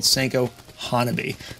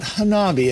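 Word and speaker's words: senkō hanabi: handheld japanese firework called senko hanabi not hanabi as i've been mispronouncing it for about two decades these gentle fireworks are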